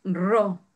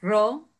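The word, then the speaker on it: ρ: Y es ro. Para pronunciarlo en español es ro.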